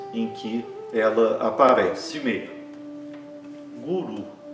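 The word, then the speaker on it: गुरु: Guru é fácil para a gente pronunciar, por quê? Porque a semivogal ra está aparecendo entre duas vogais, e então tem o mesmo som que o nosso R de arara.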